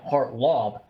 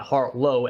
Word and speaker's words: Hartlob: I meant Hartlob, not Hartlow as his teammate.